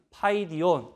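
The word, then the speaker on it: παιδίον: 흘러 이렇게 수 구요 우리말로는 파이디온 이라고 읽습니다 이 단어에 담긴 뜻을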